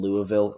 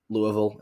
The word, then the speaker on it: Louisville: i just drew them a safe seat in louisville and then gave them or louisville if i want to pronounce it correctly and then i could give